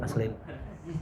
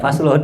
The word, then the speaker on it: Vaseline: Pas saya baca nih misalnya Vaseline, gitu Vaseline buat bibir tuh Vaseline. Bukan Faslon nih.